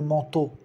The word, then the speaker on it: manteau: Le manteau. Toda vez que você veja E-A-U, E-A-U, se pronuncia O, igual a palavra água, O.